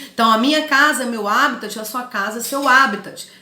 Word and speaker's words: habitat: o primeiro termo seria habitat que apesar de se inscrever habitat sem o acentinho no primeiro a se pronuncia como se tiver com acento não abre o habitat é